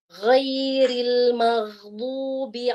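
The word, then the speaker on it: غَيْرِ الْمَغْضُوبِ: Huruf ghain itu suaranya tuh tebal dia. Dia tuh punya sifat isti'la. Suaranya gho. Pangkal lidah kita tuh naik. Gho. Dan ketika sukun pun demikian.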